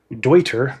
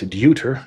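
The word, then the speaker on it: Deuter: said wrong one it's it is dwier not dter dwier sorry sorry sorry sorry I said it wrong I'm my German should be better my mother's ma name is kirov which is churchard in German I should I should know the German better dwier sent over their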